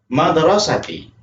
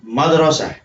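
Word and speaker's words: المدرسة: Azhabu ilal madrasati. Atau bisa juga dibacanya azhabu ilal madrasah. Jadi boleh azhabu ilal madrasati atau azhabu ilal madrasah.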